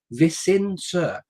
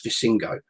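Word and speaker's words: Visingsö: And the island's called Visinser. And if you see the island written down and you're English like me, you'll read it as Visingo.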